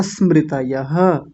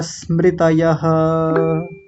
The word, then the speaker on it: स्मृतयः: लीजिए सारे शब्दों को प्रमाण विपर्यय विकल्प निद्रा स्मृतयः हो गया ना आसान आपको मैं फिर से एक बात बताता हूं।